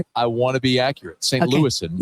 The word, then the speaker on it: St. Louis: Louis St. Louis very good was close I added one extra syllable I was gonna